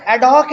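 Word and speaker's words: ad hoc: किसका spelling? एडॉप्ट। ठीक है, एडॉप तो मैंने, एडहॉक है, एडहॉक, एडहॉक, ADHOC है, एडहॉक है मेरे भाई, एडहॉक बेसिस।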